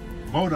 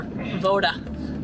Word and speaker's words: voda: Voda.